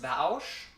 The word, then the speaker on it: Vaush: It's pronounced Vaush.